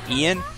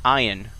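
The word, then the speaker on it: Ein: every every time after that i called him ian but apparently it's pronounced iron which is just all kinds of strange but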